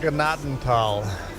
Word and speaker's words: Gnadental: It is pronounced Gnadental. Graceland. In Deutsch. Gnadental.